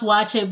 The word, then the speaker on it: waakye: famous dish watch it isn't it funny when it's pronounced watch it but the originators of the dish from the northern region have a a way of pronouncing watching hey don't come